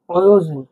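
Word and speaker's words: Өзен: অয় হিসেবে উচ্চারণ হবে, দেখুন। অয়োজেন। অয়োজেন মানে নদী। অয়োজেন মানে নদী। অয়, জেড ই এন, কি হলো? অয়োজেন। অয়োজেন মানে নদী।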